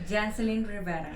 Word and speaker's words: Yancelin Rivera: You're going to have to help me with the pronunciation because you got to roll your tongue a little bit.